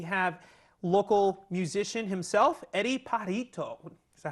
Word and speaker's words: Pajarito: Right now, here on our very first pilot edition, we have local musician himself, Eddie Pajarito. Is that how I say it? Say it right? Pajarito.